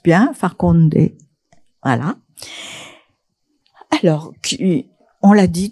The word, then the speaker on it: Farkhonde: Alors, Farkhonde, je prononce bien, Farkhonde, voilà.